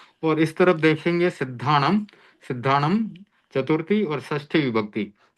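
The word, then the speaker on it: सिद्धाणं: अभी संक्षेप में इसमें आप यही समझें कि इसमें हलंत म, जब शब्द के अंत में ये आ रहा है अनुस्वार, तो उसको हलंत म के रूप में हम उच्चारण कर सकते हैं।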